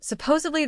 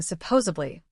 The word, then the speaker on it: supposedly: The mistake is saying supposedly. The correct word and the correct pronunciation is supposedly. Supposedly. It comes from the word supposed.